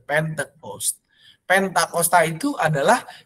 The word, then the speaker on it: Pentecost: Bahkan di dalam bahasa Inggrisnya pun pente, ya, bukan pante, tapi pente, Pentecost.